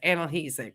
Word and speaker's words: analgesic: Okay, Chantel, I'm just going to help you with the pronunciation, not to be rude. It's analgesic. Okay, I know it's a difficult word to say.